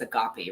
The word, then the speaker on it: agape: ] love that's coming it's not agave it's agape right i don't know rambling